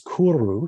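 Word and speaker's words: 来る: When this form was borrowed into Japanese, is pronounced as kuru, to come.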